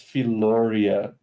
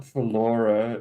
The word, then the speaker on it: Philoria: It's Philoria. It ends at this. The R is pronounced. It's not Philora. It's Philoria.